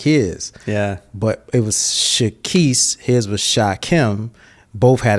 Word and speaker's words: Shekeese: And so it's pronounced Keese, and then there's Reese's Pieces, and it's Reese. I was like, I just do Shekeese.